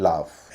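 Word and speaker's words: laugh: restaurant restaurants या resto AU का आ उच्चारण दो शब्दों में होता है एक है आंट ए य एनटी आंट और दूसरा है लाफ एल ए यू जी एच लाफ लाफ और आंट इसमें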